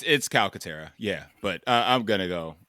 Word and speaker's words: Calcaterra: actual last name, but I'm gonna call him Calcutta. Calcaterra? Yeah, it's Calcutta. Calcutta. It's Calcutta. I didn't know if I was pronouncing it right.